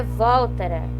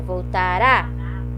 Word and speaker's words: voltará: O que é oxítona mesmo? É quando é a última sílaba mais forte, ó. Não é voltara e nem voltara. É voltará, busca pé, roubou, mantém, sempre a última.